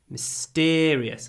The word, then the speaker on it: mysterious: a very mysterious Place mysterious so the stress moves mystery mysterious mysterious along s mysterious